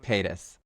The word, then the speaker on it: Paytas: We have like a couple of like high Pataeus? level Paytas. Is it what is it? Paytas. Paytas. I added a whole couple syllables to her name.